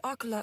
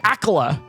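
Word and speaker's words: Akkala: No doubt Akala owes thanks to the quick thinking of soldiers from the Citadel for this.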